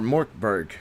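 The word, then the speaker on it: Mörk Borg: be in your face Mor Borg Mor Borg or morberg sorry is how you pronounce it markberg is a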